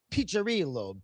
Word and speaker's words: Piccirillo: And it's pronounced Piccirillo. The double C is a cha.